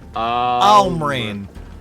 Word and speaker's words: Lmrind: Is there a silent L in there? Well, no, it's not silent.